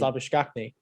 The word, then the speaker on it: Labuschagne: It was Labuchane. Labuschagne. Labuchane. Yeah, I think it's Labuschagne. no, that's he's from South Africa, so it's actually pronounced Labuschagne.